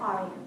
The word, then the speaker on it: Aaryn: If I had to remember, your son's name is Aaryn, and pronounce it for me again? Aryan. Aryan, all right.